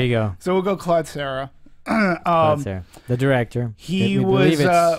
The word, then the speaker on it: Collet-Serra: up on a ruling in how to properly pronounce? We're going to say Collet-Serra.